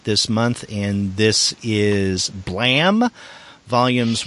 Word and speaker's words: Blame!: now this is spelled b l a m e in there's an exclamation mark in the title but it's not blame it's pronounced blam correct uh yes it